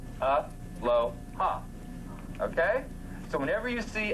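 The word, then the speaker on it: Aloha: Every 2 letters is a syllable per se, followed by a vowel, or a vowel is 1 syllable. So if you look at this, it's real simple. A-lo-ha. A-lo-ha.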